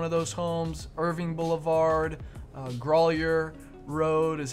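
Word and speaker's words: Grauwyler: to show one of those homes irving boulevard growlier road is how that's pronounced g-r-a-u-w-y-l-e-r grollier is how that's called and then let's see uh yeah riverside off of 114.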